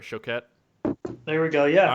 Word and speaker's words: Choquette: to be pronounced dj it's show cat so that's not like it's not an s it's not chocolate no is that what